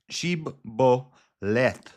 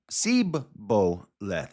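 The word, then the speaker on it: shibboleth: So, it's shib sheboleth and he said sboleth. It's sheboleth and he said sboleth for he could not frame to pronounce it right.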